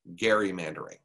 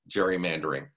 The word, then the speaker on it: gerrymandering: about gerrymandering which by the way is correctly pronounced gerrymandering because it is named after somebody by the name of elbridge gary but everyone pronounces it gerrymandering in the united states in fact we had